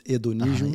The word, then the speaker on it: hedonismo: In English, no, in Portuguese it's hedonismo. Yes. The H is silent.